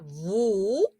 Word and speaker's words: vous: sí ya dijimos que la s al final de la palabra no se pronuncia voulez vous porque o se pronuncia